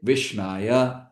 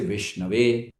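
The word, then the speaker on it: विष्णवे: But when it comes to Vishnu, we don't say Vishnaya, we say Vishnave.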